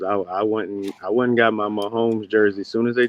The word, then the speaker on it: Mahomes: Mahomes.